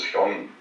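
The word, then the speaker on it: 형: And the Korean pronunciation was hyong.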